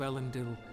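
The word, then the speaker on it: Elendil: smite the heirs of ellen dill and lay their kingdoms low it's pronounced like a more like an e sound than an eye sound i'm afraid sir but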